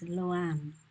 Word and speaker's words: LoAn: If you are English speakers, then the best way to pronounce her name is LoAn.